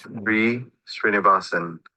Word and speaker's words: Sree Sreenivasan: So when you click on this, it should pronounce Sree Srinivasan. Sree, like in Sri Lanka.